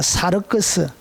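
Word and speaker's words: σάρξ: 사르크스, 이렇게 사르크스라 읽습니다. 이것은 소마라고 읽습니다.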